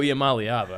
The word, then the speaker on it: Iamaleava: But also, Nico Iamaleava. I mean, let's not stray too far. Yeah. Well done on the pronunciation.